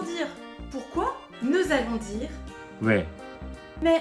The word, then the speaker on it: 왜: Pour les différences de prononciation, à Séoul pour dire pourquoi, nous allons dire 왜? mais à Busan cela se prononce. 와, Pour dire nourriture à Séoul on dit 음식, et à Busan.